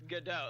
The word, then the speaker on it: Godot: Yeah, that's what there's no T, but like it's Godot. Like Godot with the T is pronounced Godot, and the last 2 letters of both his first name and his last name are Godot.